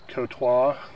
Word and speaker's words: Courtois: just on the uh proper pronunciation is Kota but uh local pronunciation is kway oh I got you